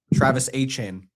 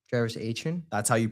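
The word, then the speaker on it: Etienne: Achin Travis Ain. Travis Ain. That's how you pronounce.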